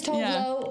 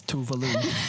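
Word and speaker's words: Tove Lo: right yeah okay but she really americanized her name i'm like stop saying your name like that that's not how you say it yeah yeah hi my name is totally no it's not it's tuvalu but maybe she did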